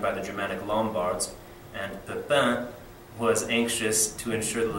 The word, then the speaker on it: Pepin: the Frankish kingdom of, it looks like Pepin, it's pronounced Pepin, Pepin the Short, he was called Pepin